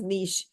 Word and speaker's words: niche: a is a is an ediom okay so Nish is they have carved their place they have made their place that is basically what it means here so this is about that the pronunciation is Niche and uh um simar tell me one thing